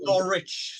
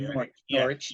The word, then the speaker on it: Norwich: the UK, and in Norwich specifically. Norwich. Yeah. As the Americans pronounce it, Norwich.